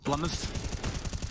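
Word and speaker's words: blameF: Blumouth. It's a 2-syllable name.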